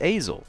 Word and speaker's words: Azel: Because I see Azael or Azel. Those are the 2 options in my head that pop up. It's like Hazel. So it's Azel.